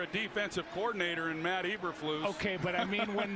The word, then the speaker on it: Eberflus: It's pronounced Eberflus.